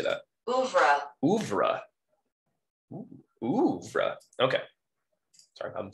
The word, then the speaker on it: oeuvre: In her over, O-E-U-V-R-E. Let's learn together what that word is. The works of a painter, composer, or author. How do you say that? Oeuvre.